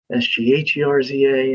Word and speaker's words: Sgherza: So that, phonetically it's spelled Skerza, but it's Sgherza.